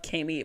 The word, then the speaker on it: Kami: Love, Kami, pronounced Amy with a K.